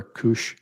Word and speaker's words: Kush: Master 2 and remember Kush Jewelers rhymes with douche douw the douchiest Jeweler